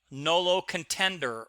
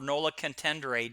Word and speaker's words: nolo contendere: The next one is what they call nolo contender or nola contendere, depending upon your view of pronunciation.